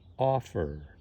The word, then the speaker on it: offer: this word and this word it's the first syllable that stressed open offer in these cases that end in c v